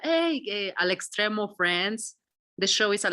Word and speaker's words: Al Extremo: Al Extremo. Alex Stream. Exactly. ALEXTREMO.